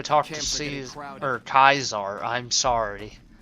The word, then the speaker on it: Caesar: to him please or Kaiser I'm sorry I always said Caesar they say cars are in this but I say Caesar but it's how we pronounce it I guess so here is Kaiser's